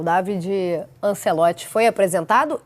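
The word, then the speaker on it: Davide: Para começar, a pronúncia correta do nome David.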